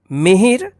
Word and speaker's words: मिहिर: मिहिर, देखिए दोनों अक्षरों पे है तो दोनों अक्षरों के साथ जो है ना छोटी ई का उच्चारण होगा मिहिर।